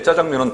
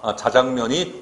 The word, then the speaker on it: 자장면: 기구들이 부족하게 되고 이때 짜장면은 참으로 편리한 해결책이다 자장면 원칙 짜장면 호용 표준 발음법 바 춤 법 이렇게 됩니다 자장면이 원칙 짜장면도 포용 됐습니다 표정으로 미국에서의 피자도 마찬가지다 갑자기